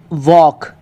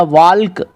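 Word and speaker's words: walk: तो पाम, could, वॉक, इनको पाल्म या कुल्ड या वाल्क ऐसे नहीं पढ़ेंगे, इनका सही उच्चारण रहेगा पाम, पाम, कुड, कुड, और इसको पढ़ेंगे वॉक, वॉक।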